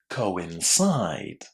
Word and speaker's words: coincide: And it's going to be pronounced in exactly the same way as we have just done it in prohibited. So how would you say this word? Listen and check. Coincide.